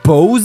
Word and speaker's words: Bose: very unnatural another thing apparently Bose it's pronounced Boze that can't be my